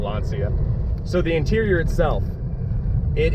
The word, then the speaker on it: Lancia: And of course, how Lancia, which is what I've been told is how it's actually pronounced. Well, I'm still gonna butcher it and just call it Lancia.